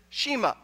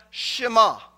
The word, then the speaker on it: Shema: Now, if you grew up like me, pastors pronounced it Shema.